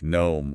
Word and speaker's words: gnome: And then if a word starts with E N Mhm. like gnome or sign. Okay. That G is going to be silent.